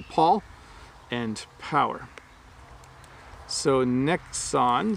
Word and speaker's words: Paul: So P-A-U-L is Paul, Paul. And then power, I'm really accentuating the syllables.